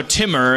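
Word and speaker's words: Timur: on yeah come on pronounce it so more t i m u r how but if we just if we're just in a rush we can just go Timmer and it's fine right Timmer like like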